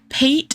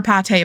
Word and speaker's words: Pate: I'm not calling her Pate, by the way. I know that that's how she's supposed to be pronounced, but it doesn't have an accent. The E doesn't have an accent, and she's not food to me.